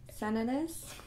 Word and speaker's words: Sananas: Is it Sananas? Sananas? It's like bananas with an S.